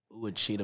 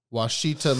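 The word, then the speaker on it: Ouachita: I'm finna see how to pronounce this motherfucker. O UACHITA. Mountains. That bit take extra clean, bro. Pronounce. All right, here we go. Here we go. Washita Mountains.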